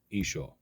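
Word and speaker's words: ܝܫܘܥ: By the way, Jesus' original name is pronounced in Aramaic as Isha, and Christ is a title.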